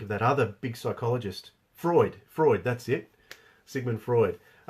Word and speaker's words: Freud: I can't think of that other big psychologist Freud Freud that's it Sigmund Freud but the principles